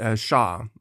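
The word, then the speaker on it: Xia: I don't begin with the SHA Dynasty that's spelled x i a for those who are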